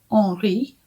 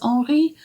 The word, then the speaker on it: Henri: In the book, he is called Henri, or Henry maybe, but I think it's French. I think it's the French pronunciation.